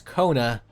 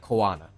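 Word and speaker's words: Koana: my brain power to remember it's Kona and not kanana from last week that that that's that's all I've I've internalized at this point CU I will just default saying you know kanana cuz there's an a I say with a shrug that you can't see here there there's an A so it's got to be kanana right but uh that's also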